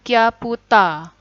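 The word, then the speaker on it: キャプチャー: Card jadinya kado. Kado. Kemudian capture jadinya kyaputa. Kyaputa.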